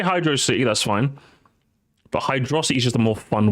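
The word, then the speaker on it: Hydrocity: to beat you up hydrosity or hydr city it's hydrosity purely because hydrosity just sounds more fun to say if you say hydrosity that's fine but hydrosity is just a more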